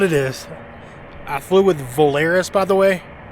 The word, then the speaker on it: Volaris: I flew with Volaris, by the way. I think they pronounce it a different way. Valoris. I like Volaris better, so that's how I'm going to pronounce it.